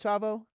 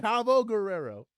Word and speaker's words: Chavo Guerrero: You're not a fan of Chabo.